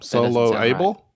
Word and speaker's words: soloable: you can solo them solo able soloable yes they're not solo handicap they're soloable soloable four syllables P PX transhumanity and